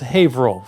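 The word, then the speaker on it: Haverhill: ha Hill like the spelling in England but pronounced havo for some strange reason nothing in Massachusetts is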